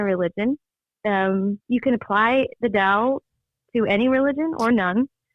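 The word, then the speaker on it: Tao: o but it's spelled it's pronounced Dow yeah with like a D yeah it's a weird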